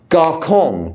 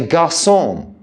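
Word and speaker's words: garçon: sadilla under a sea in French we don't pronounce just because we're English um gon we don't say gon in the restaurant in Paris we say gon yes if we wanted to be pretentious and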